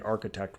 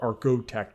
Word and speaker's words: archotech: And by bionics, I mean the architect ones, or archotech, because I've been given shit that I say it wrong because it's what I do.